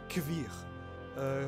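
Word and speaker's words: Kveer: Ce manoir s'appelle Kvir. Ça s'écrit K-V-E-R.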